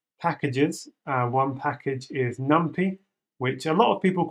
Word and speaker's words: NumPy: to install external packages uh one package is numpy which a lot of people call numpy but I call it numpy so you're gonna just have to deal with